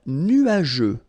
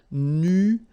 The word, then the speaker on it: nuageux: Un ciel nuageux. This can be quite tricky, but take the time to nuageux. Remember, final X here, not pronounced.